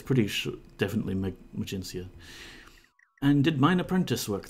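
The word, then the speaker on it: Magincia: the island of new magencia emergency yeah yeah I think when we were kids we used to pronounce that magnesia but it's pretty sure definitely magencia and did mine Apprentice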